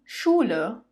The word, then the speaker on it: Schule: Now when S, C, and H come together, you say it as the English sh, sh. For example, die Schule, die Schulen, die Schule, die Schulen.